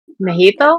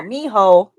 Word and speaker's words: mijo: What's the word? Mojito? Yep. No, no, mijo.